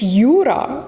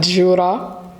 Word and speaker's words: Yura: you're mispronouncing my name it's Yura not Jura it's y u r a it's Ura I apologize for mispronouncing